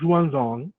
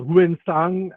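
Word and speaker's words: Xuanzang: we all know about ruan zong or ghuen sang as some people pronounce the name the famous monk of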